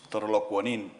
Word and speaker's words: Torolokwanin: The correct pronunciation is Torolokwanin, yes.